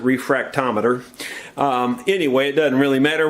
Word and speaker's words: refractometer: If you don't know what a refractometer is, I called it a refractometer. Most people pronounce it refractometer.